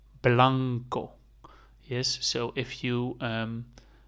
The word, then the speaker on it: blanco: pronounce it like this Blanco Blanco yes so if you um pronounce it make sure you make the blah make it a little bit longer than the O the O is really short like Blanco yes so